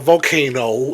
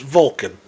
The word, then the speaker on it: Vulcan: But then just the Vulcan part was like I love how she had to go on social media like it's not volcano it's Vulcan.